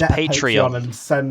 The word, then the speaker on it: Patreon: for i'm paying zoey and then no it's pronounced patreon do a patreon yeah send me some money